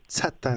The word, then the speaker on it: Tsatan: Oui, c'est Tsatan, mais le monde dit Tsatan. Moi, je trouve que c'est plus beau de Tsatan, là, mais ouais, les deux, ça se dit.